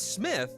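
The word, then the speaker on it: Smythe: I spelled Smith differently I spelled it SM SM y t h e ah going for SM not Smith no it's Smith but it's it's spelled SM oh that that's that's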